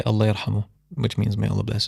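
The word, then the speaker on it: الله يرحمه: But I always say Allah yarhamu, which means may Allah bless his soul. I would try to pronounce that, but Allah yarhamu. Allah yarhamu.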